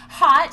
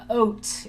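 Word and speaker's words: Haute: little bit about it hot doki mazzo is what we say hot is spelled like h-a-u-t-e oat if you are french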